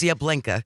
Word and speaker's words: Yablinka: And it's spelled like YAHBLINKAH. Use Yablinka. Because they wanted to make sure that the drivers were really getting the vibe that they were going for.